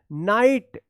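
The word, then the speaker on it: knight: यहां पर देखिए नाइट क्या है? के एन आई जी एच टी यहां पे के साइलेंट है।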